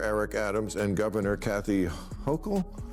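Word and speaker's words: Hochul: Uh, what do you New Yorkers think of how Mayor Eric Adams and Governor Kathy Hokll yes? Yes, he pronounced it right.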